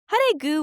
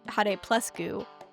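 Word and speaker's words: Hare+Guu: Haru was another young mimi blockbuster discovery. From what I understand, despite the plus sign in the middle, similar to Hunter Hunter, Hargu is pronounced haru, not had plus goo.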